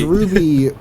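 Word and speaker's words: RWBY: it's it's old yeah it's called Ruby but it's spelled rwb now Ruby I'm going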